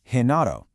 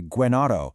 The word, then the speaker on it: Genaro: For example, J is pronounced he, like in the name Genaro, and G is pronounced he, as in girasol, which is a sunflower. You would never say guenaro or guirasol. No way. It's a total change of